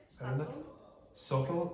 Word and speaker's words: subtle: Subtle. What's not pronounced? B. The B again.